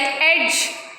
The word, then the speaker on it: edge: Next, D is silent before the letter G, like edge, badge, knowledge.